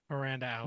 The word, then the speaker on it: Miranda Alize: Miranda Alize, whose name I've pronounced wrong literally up until this episode. Miranda Alize.